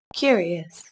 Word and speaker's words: curious: Curious. Curious. Curious. Các bạn chú ý, từ này có 3 âm tiết và trọng âm rơi vào âm tiết đầu tiên nhé.